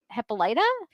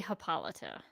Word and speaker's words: Hippolyta: She says, Diana's original origin story was that she was made out of clay by Hippolyta? Is that I always say Hippolyta. Hippolyta.